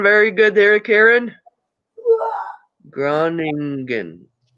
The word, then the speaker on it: Groningen: Groningen. Groningen. I'm going to let my puppy out too. She Yay, I pronounced it right.